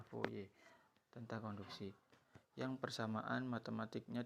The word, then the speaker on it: Fourier: dikenal dengan hukum foye disini tulisannya fourier tapi membacanya foye tentang konduksi yang persamaan